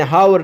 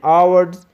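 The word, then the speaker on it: hour: For example, an apple, N orange, an ऑनर, an umbrella, N आवर्स, एन हावर नहीं, ठीक है, एन आवर्स, N architects, an honest man.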